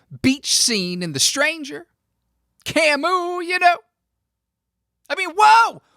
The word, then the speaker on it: Camus: like some non-french speakers mispronouncing his name camis cause it's spelled c-a-m-u-s came it's like kingsley amos